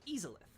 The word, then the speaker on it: Izalith: but um the the pronunciation should be something like easelith because it's a portmanteau of izanami the Japanese Shinto goddess